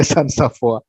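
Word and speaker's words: Walter Sans-Avoir: Nah, Walter Sans Safoir tulisannya bacanya San Saf.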